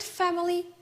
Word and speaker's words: family: In this word, family, fe, the first syllable, is stressed.